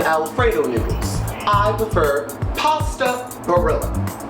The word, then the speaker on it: Barilla: I prefer pasta barilla. Barilla. That's how they say it in the commercial.